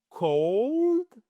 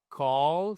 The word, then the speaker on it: cold: Attention, ici c'est cold. Cold, c'est pas call, c'est cold.